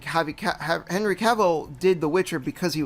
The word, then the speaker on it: Cavill: Yeah, Henry Cavill. I mean, yeah, it's funny you say that because like Henry Cavill did The Witcher because he was a fan,